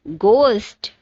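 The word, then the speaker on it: ghost: Next word is गोस्ट, जिसमें H silent है.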